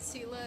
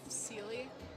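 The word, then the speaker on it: Seele: strength thus in equilibrium why is it Sila instead of Sealy I don't know why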